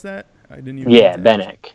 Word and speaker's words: Benak: Is that how you pronounce that? I didn't even. Yeah, Benak. Benak.